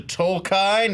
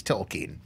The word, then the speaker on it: Tolkien: Tolkien? He goes, it's Tolkien.